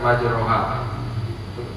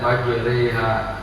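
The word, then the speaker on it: مَجْرٖىهَا: Kemudian juga bismillahi majreha harusnya kan majroha dibacanya majreha kayak ada e-nya gitu.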